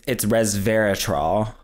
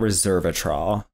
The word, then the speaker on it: resveratrol: It's pronounced, it's resveratrol. It's not resveratrol.